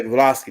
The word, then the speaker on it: Blavatsky: Yeah, Blavatsky, that's how you say her name.